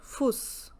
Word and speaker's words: Fuß: But in German, this is an alphabet which gives the sound of double S in the word, and that's called as S-set.